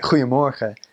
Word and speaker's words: goeiemorgen: you first hear Dutch, they have a lot of guttural G's or CH. And that's, I guess, to our ears, or to mine at least, that was the first thing that hit you. You're like, wow, they're just clearing their throat the whole time, So, you're saying something like, goeiemorgen. You just hear the "g" and you go, whoa, what are they saying?